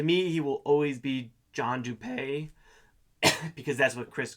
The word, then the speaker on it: Dupee: So that's John Dupee. And I know I've been pronouncing it wrong according to Chris Hanson's podcast. Apparently it's pronounced John Dupee.